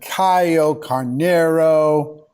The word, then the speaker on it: Caio Carneiro: our show I'm here with my good friend Caio Carneiro Caio did I pronounce all that right perfect always perfect it's